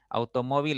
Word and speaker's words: automóvil: Automóvil es una palabra de 4 sílabas, así de sencillo, ¿ya? La mayor intensidad está en la segunda sílaba.